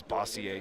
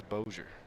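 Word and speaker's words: Bossier: think in what what's I always thought it was bosier City bosier but you know it turns out as Boer I like it more as bosier look people think it's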